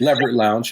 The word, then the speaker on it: Leverett Lounge: We in Northwest Arkansas, you can, Leverett Lounge. I'm not saying it right, but Leverett Lounge. Leverett Lounge, yep.